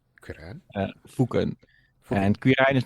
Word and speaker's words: Foeken: Foken.